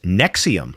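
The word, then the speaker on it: NXIVM: Nex IVM, pronounced Nexium, like the heartburn medication, presented itself as an executive success program that promised to unlock human potential.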